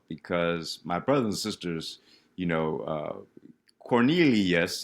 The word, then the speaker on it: Cornelius: my brothers and sisters, Cornelius, that's 4 syllables, right?